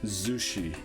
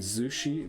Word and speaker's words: Zushi: going to name it Zushi we already know that with a zed so it's Z not Sushi it's Z Zushi I don't know again